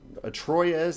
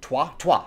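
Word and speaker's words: Troyes: little bit like um troz in space Troy um twah twah that's how you say it twah twah in space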